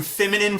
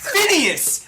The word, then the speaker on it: Phineas: Say it! Phineas! It's an N!